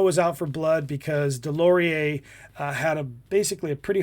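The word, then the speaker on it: Deslauriers: Now the backstory of this is I'm going to I I wrote this out phonetically because it's like DeLorean's, but his name is Delorie.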